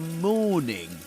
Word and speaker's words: morning: Southern Standard British English, this letter, R, the sound R, is not pronounced right before consonant sounds. That's why morning is not pronounced. But this is not the case in other accents like American English. Morning, morning, you will say there. But here you say morning, morning.